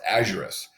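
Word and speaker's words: aurum: and so I believe gold a used is pronounced a Juris and a Juris meaning gold au and so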